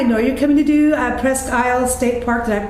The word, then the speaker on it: Presque Isle: phone, well, I know you're coming to do Presque Isle State Park. Did I pronounce that?